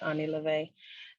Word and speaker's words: OnE Lo'Ve: started a business called Ani levay and it looks like one love but it's pronounced Ani Levy and it we take